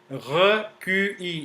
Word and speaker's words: recuit: Okay, recuit, as we have just learned, it is pronounced as recuit. Recuit. T is silent.